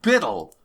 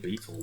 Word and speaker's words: Bitil: How do you pronounce it? It's Bitil. it's just Biddle. It is? Biddle? Bitil. Because because whatever way we've been pronouncing it sounds better. I was saying beetle the whole book.